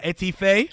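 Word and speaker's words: étouffée: Etouffee?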